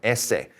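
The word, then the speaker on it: ese: The S, you can probably already guess. It's got those same E sound. Essay.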